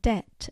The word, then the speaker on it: debt: Latin so they added the silent B in debt and doubt and Asylum P in